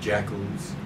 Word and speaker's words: JACL: people were called either jackals, JACL, Japanese American Citizens League. The initials JACL could be pronounced jackal when you pronounce that, or inu, the Japanese word for dog.